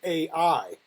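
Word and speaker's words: Æ: So that symbol that looks like an A and an E put together, he considers that to be pronounced Ash? Ash, and he said his partner came up with that, so that would be Grimes. Okay. Well, I do want to say that I also saw a publication with her saying that that's pronounced AI, like artificial intelligence.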